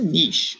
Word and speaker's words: niche: all right what's a niche or a niche you can pronounce it either way and can you describe